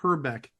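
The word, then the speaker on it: Hrbek: the pronunciation of Kent herbeck because he actually pronounced her back almost like Trebek can't her Beck Alex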